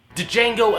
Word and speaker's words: Django: come out and sing Django unchain I'm just kidding the D is silent this is one badass